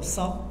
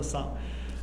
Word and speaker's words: 繅: 我们今天要来跟大家分享这个字呢，读作烧，读作烧。